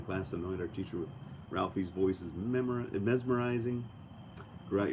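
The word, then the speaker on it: Ralfy: Yeah, there's some, if you've never seen Ralphie, which is spelled R-A-L-F-Y, he is a fantastic whiskey reviewer.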